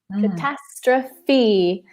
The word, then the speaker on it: catastrophe: good sound strippy catastrophe catastrophe if you're at home watching pronounce that word with us could past Rafi it's four syllables catastrophe okay The Big